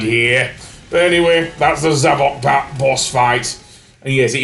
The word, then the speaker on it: Zavok: But anyway, that's the Zavok boss fight. And yes, it is pronounced Zavok. Seriously. Sonic even says so earlier on. It's not Zavok.